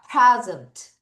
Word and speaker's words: present: present. 다시 present. 파. 다시 뭐예요? present. 피발음할 때 푸 이게 아니라 파.